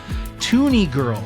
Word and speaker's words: TUNIG1RL: Toonie Girl. So it took me a while to pronounce, but it's spelled TUNIG1RL, and I think that's Toonie Girl.